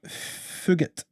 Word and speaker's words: Fugit: Then we had Michael Morales defeating Adam Fugit. And that is actually how you pronounce that name, based on how the commentator pronounce it. That is how it's pronounced.